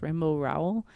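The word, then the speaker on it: Rainbow Rowell: Simon snow by rainbow I think it's pronounced rainbow row um I've never heard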